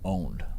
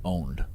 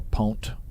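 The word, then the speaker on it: pwnt: it's actually just pronounced owned but you know if you spell it p-w-n-t if you spell it p-w-n-t it's still pronounced owned so don't say don't say pwn or pont it's it's still owned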